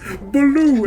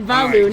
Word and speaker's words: Baloo: and it was Sonic, but he says Baloo, and it's like from Jungle Book. It's just the pronunciation and the. I thought you said Valu, not Baloo.